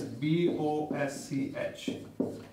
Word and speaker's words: Bosch: now s c h s c h is pronounced as sure you must be knowing one more German company that is b-o-s-c-h Bosch yeah so this